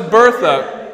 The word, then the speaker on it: Bertha: The response to that is we must pronounce it Bertha. Bertha. Like the French.